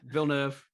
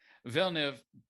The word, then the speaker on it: Villeneuve: people know that uh vinoof did i pronounce that right close enough yeah villeneuve villeneuve you know got what's